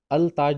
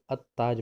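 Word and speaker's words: التاج: जैसे अगर अलिफ लाम के बाद में अगर ता आ जाए तो हमें उसे लाम को प्रोनाउंस नहीं करना है। तो हम क्या पढ़ेंगे, जैसे यहाँ पे लफ्ज़ आया है अत्ताज, तो हमें अल ताज नहीं पढ़ना है बल्कि अत्ताज पढ़ना है।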